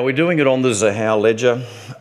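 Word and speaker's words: Xahau: Now, we're doing it on the Zahao ledger. I understand it's a hard word to pronounce when you look at it. Zahao, it's a thing that names have got X's in this space.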